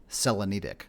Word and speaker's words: Selenitic: At least, you know, I've had debates whether it's Selenitic, Selenitic. When I looked it up, pronunciation of it apparently is Selenitic.